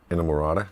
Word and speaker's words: Inamorata: Please pronounce the last song on the record, please. Inamorata.